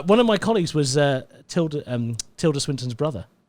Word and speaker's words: Tilda: It's actually pronounced Tilda. Tilda.